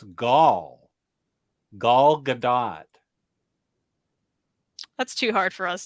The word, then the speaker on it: Gadot: want to send it gal gadot gal gadot pronounces the t she needs to start